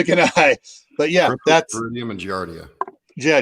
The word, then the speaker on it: Giardia: one that begins with the cheese I can't pronounce that word yeah I mean either gonna but yeah that's human Giardia yeah Giardia there we go they're not gonna allow that